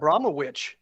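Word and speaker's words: Abramović: Abramowitsch, and that's how she wants her name pronounced.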